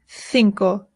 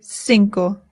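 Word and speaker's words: cinco: In Spain, they say thinko. In Latin America, they say sinko. Both are correct.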